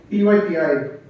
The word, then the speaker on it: PyPI: there's a very useful website called PYPI. Pronounce that how you will. I call it PyP.